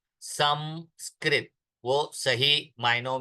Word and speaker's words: संस्कृत: एक बात सन सन एस ए एन जो हम लिखते हैं वो दोष पूर्ण है संस्कृत इट इज मकार नॉट नकार संस्कृत वह सही मायनों में